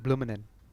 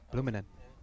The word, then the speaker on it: Blumenen: Blumenen. I like that one. Blumenen. Like bloomin' onion, but if you say it really fast.